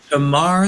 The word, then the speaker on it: Tamar: Is it Tamar Haspel? Is that how you pronounce it at the Washington Post? Tamar like guitar.